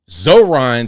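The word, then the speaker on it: Zohran: His name is Zoron.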